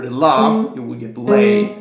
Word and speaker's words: le: So you would go May, for example, or if you lower the la, you would get lay. L-E is lay.